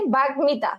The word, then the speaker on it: বাগ্মিতা: টন ম ও ল, এর সাথে ম ফলা থাকলে ম এর উচ্চারণ কি থাকবে? অবিকৃত থাকবে। অর্থাৎ অবিকৃত মানে কি, ওখান থেকে কোনো মানে ম এর উচ্চারণ ম এর মতোই হবে, কোনো বিকৃত রূপ কিন্তু আসবে না, ঠিক আছে? কোনো বিকৃত রূপ আসবে না।